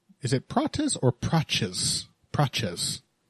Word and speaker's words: Prates: Praches. That's often how the T is pronounced.